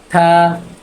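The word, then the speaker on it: 他: থা থা মানে সে বা তিনি, ইংলিশ হচ্ছে হি অথবা হিম।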